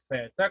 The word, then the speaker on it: theta: Après, c'est la lettre theta, comme en anglais, TH, theta, comme theoria, théorema.